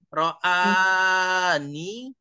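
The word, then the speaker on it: رآني: Sama, ini nanti ro'a, A-nya panjang ya. Ro'ani, A-nya harus panjang harokat A-nya. Ro'ani, seperti ini.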